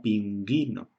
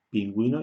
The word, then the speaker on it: pingüino: el ping pingüino que si no tenemos los dos puntos sería ping ino la 1 se pronuncia y la que sería su ave ping ino pero por en este caso hay que pronunciar la sería pingüino y escribimos estos dos puntos